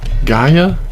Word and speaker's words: Geyah: And Geyah is how I pronounce it, not Geyah, Geyah.